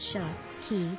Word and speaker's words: Psaki: last name is pronounced sharp key with the p silent and like the japanese alcohol sake the press secretary's role